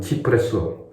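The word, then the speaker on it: cipresso: 네스티 단티에 이탈리안 네스티 단티에 치프레소 사이프러스 나무향 이태리를 하면 발음은 치프레소 이게 더 가까운 발음이죠.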